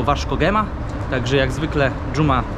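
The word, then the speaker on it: Vasco da Gama: произносим «Криштиану Роналду», и также оказывается, что это не «Васко да Гама», а «Варц Хема», так что, как обычно, Джума развлекает и учит.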